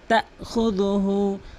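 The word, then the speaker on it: تَأْخُذُهُ: এখানে অধিকাংশ লোক বলে লা তাখুযুহু। লা তাখুযুহু। এখানে কিন্তু হামজা রয়েছে, ধাক্কা দিয়ে উচ্চারণ করতে হবে। তাখুযুহু।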